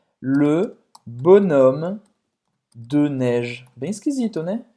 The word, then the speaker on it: bonhomme: Não é bonhomme, tá? Esse H é mudo.